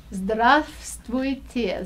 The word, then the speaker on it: здравствуйте: you have to say здравствуйте, здравствуйте. Oh, jeez. I know that's a hard one, and you know what? I had to spell that word Yeah. with so many silent letters in it.